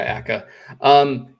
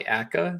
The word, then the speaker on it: Akka: I hope it's pronounced Akka. I think so too. Yeah, Akka.